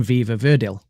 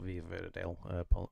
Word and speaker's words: Viva Verdi: Sweet Dreams of Joy from Viva Verdil. And Train Dreams from Train Dreams. So none of us picked "Sweet Dreams of Joy" from Viva Verdi, not Viva Verdale.